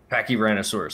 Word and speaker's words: Pachyrhinosaurus: Pachyrhinosaurus, there we go.